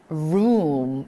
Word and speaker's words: room: 바로 O가 연달아 두 번 나올 때는 발음을 우라고 해주는 거예요. 예를 들자면 O가 연달아 두 번 나오는 게 뭐가 있을까요? 내 방. 우리 방이라는 말을 할 때 room 이라고 발음을 하잖아요.